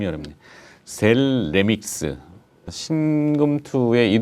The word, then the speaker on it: 셀레믹스: 친구 상장 된거예요 sl 은 아니고 셀레 빅스 발음 여러분 셀레 믹스 신금 2a 동 광랜 얼이 좀 관심을 많이